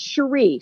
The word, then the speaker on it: Cherie: she was good no it's it's Sheree c h r i e not sh yeah did I say